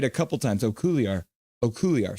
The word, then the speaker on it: Okuliar: Okuliar going to the box now. There, I said it right a couple times. Okuliar.